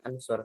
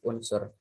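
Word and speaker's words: اُنْصُرْ: Makanya kalau misalkan di fi'il sahih salim nih yang nasoro yansuru itu fi'il amarnya gak pakai hamzah wasol, maka dibacanya ansur, sulit. Maka ditambahilah hamzah wasol jadi unsur.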